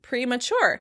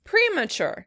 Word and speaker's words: premature: Premature. In British English, the word would be stressed on the first syllable. Premature. Premature. In American English, the word would be stressed on the second syllable.